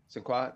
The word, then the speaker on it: Sinqua: And I was going to say, Sinqua, did I pronounce it correctly?